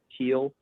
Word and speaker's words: Heil: by john heil yeah h-e-i-l i guess that's how you say it heel i don't know i'm